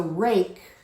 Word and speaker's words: rake: So rake starts with an R. Because of the silent E, the A says its own name.